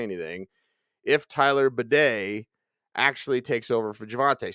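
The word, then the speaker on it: Badie: wasty but it's B he's using the French pronunciation uh so it is Tyler bedet in the Broncos backfield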